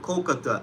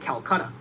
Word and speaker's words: Kolkata: There's Calcutta and Kolkata. We called it Kolkata after the British fled from India, as they called it Calcutta, because they couldn't pronounce Kolkata or whatever.